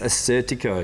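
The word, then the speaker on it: Assyrtiko: I cannot pronounce it though. Yeah. I'll leave it to you. It's Assertico.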